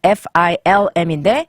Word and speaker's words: film: 소리를 모방하라는 건 아니고 우선 영어식 발음을 알려드릴게요 필름은 film인데 영어로는 리을이 없어지네요 그렇죠 대신 어 소리로 할 때 강세가 다 들어가요 필름 맞아요 근데 영어는 우리가